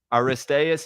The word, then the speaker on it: Aristaeus: Uh, this episode is about Aristas.